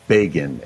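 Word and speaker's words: Bégin: His pseudonym it was spelled like the word begin, but it was French, and so it was Bagan, Al Bagan.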